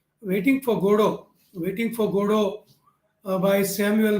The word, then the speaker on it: Godot: n d a ant attendant go down d g o d o t t is silent there in guru so an attendant godot